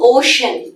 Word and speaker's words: Oshun: How do you pronounce it? Oh, the healing ocean.